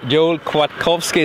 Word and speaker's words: Kwiatkowski: thank you uh uh un muda hocki H Joel quat kovski is that correct pronunciation that is good there's a lot of